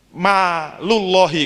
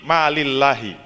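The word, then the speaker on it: مال الله: Min sebagian, malullahi kalau bacanya langsung begitu. Tapi karena min jadi ngejer kan, min malillahi.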